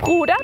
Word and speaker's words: Bruder: Y en Bruder también la R al final se pronuncia como una A.